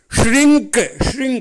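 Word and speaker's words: shrink: சரி, அடுத்தது பாருங்கள், நம்பர் 3 பாருங்கள், ஷ்ரிங்க். எஸ்ஹெச் வர்றதுனால அதனுடைய உச்சரிப்பு நம்ம நாக்கை மடித்து உள்ளே மடித்து சொல்லணும்.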